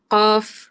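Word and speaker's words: ق: শেষ অক্ষরটা হবে ফা, কফ, কফ। জিহ্বার গোড়া থেকে উচ্চারিত হবে কফ, কিন্তু শেষ হবে এই যে ফা, কফ, কফ।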